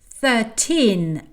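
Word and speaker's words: thirteen: On dit 13 avec l'accent à la fin et 30 avec l'accent au début.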